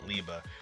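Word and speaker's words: Liebe: I want to say it's pronounced Liba, which I'm pretty sure some of you have looked it up already. But if not, it's German for the word love.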